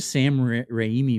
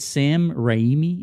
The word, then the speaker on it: Sam Raimi: that correctly is it sam raimi is that how you pronounce it i think it's rainy like it like rain rain like rain but rainy rainy yeah sam raimi so he's uh the